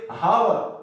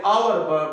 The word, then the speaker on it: hour: Pronunciation इसके करते हैं, लोग इसको पढ़ते हावर, ये हालांकि हावर नहीं है, ये टोटली गलत है। ये अलिफ जबर वाव, डबल वाव रे आवर बनता है, इसलिए इससे पहले एन लगाया जाता है, क्योंकि आवर है, हावर तो है ही नहीं। हम टोटली गलत पढ़ रहे होते हैं, जब आप प्रोनाउंसिएशन कर रहे होते हैं तो हम इसको हावर पढ़ रहे हैं, हालांकि हावर नहीं है, ये आवर है।